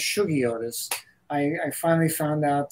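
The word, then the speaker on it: Shuggie Otis: out uh by this this Blues Phenom uh shaggiotis actually it's pronounced sugiotis I I finally found out that Sugi is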